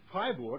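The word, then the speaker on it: Freiburg: in the 15th century hi Borg and I pronounce it German this time because it was your own it came in and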